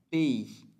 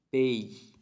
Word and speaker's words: pays: Pays. Pays. No suena la S.